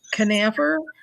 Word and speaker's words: Canaver: you i'm fine and your last name is pronounced canaver you got it you're good oh i'm